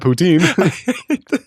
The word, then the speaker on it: poutine: So, the first time I had poutine, it was in Canada when I went. The first time I had Putin.